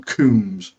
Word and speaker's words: Combs: and KS yeah ag even though his name is spelled Combs but insists on calling himself kums no makes it really